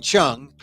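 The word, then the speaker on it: Hsiung: here is Wayne Chong when when Chung it's spelled s it's spelled HS i u n g CH and he's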